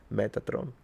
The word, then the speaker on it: Metatron: The same Metatron. It's the same. Just a little just roll your R and you turned it into the Italian way of saying it. Metatron.